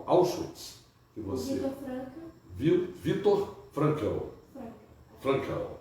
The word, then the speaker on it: Frankl: Frankl, é a pronúncia do alemão, né?